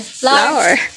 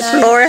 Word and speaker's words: flour: At saka yung ano harina floor an floor flour flor flour dili floor ha flour all purpose flour sa